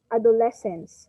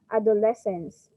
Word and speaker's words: adolescence: thing is that class the proper way and how we pronounce this word is adolescence okay adolescence so the stress is on the third syllable okay mariam yes it's